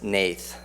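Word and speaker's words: Hnath: is written by Lucas Nathe you know it doesn't look like Nathe but that's how his name is spelled and how his name is pronounced this is a production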